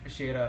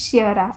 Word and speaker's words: Shira: Uh, am I pronouncing your name correct? It's Sher, right? It's Shira.